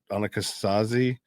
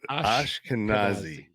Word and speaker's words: Ashkenazi: there are the Annika Annika sazi I think or I don't know Ashkenazi Ashkenazi I can never pronounce that Ashkenazi okay there you go I'm oh I'm trying